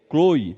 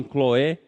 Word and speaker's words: Cloé: casa de Cloé, ou Chloe, né? Alguns falam Chloe, outros falam Cloé, né? Mas aí pode ser só uma maneira de pronúncia, né?